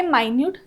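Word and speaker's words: minute: मधले मुद्दे नेक्स्ट आहे मायनट सेम शब्द आहे स्पेलिंग सेम आहे मात्र त्याचा अर्थ आणि उच्चार वेगळा वेगळा आहे देर वज अ माट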